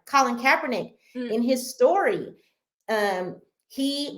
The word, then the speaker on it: Colin Kaepernick: Colin Kaepernick uh Kaepernick I'm sorry let me pronounce his name right Colin Kaepernick in his story um he got cornrows and